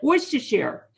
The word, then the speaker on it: Worcestershire: was asking you for i just said it worcestershire there you go you're the first one the guy how do you say it works to shire worcestershire i guess that could be the english way